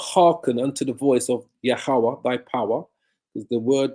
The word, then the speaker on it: Yahweh: Yah, ha, wa, ah, which pronounces Yahweh. Yah, ha, wa, ah. Yahweh.